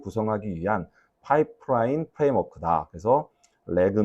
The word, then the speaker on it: RAG: 어 두 번째 역시 레그예요. 레그. 라그 RG 뭐 이렇게 어 세 가지 발음으로 쓰이는데 저는 렉그라고 하고 싶어요. 그리고 우리나라에서 렉그라는 단어로 좀 통일을 좀 시키고 싶습니다.